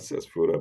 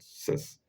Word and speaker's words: Ctesiphon: Not Sesphora, but Cesiphon.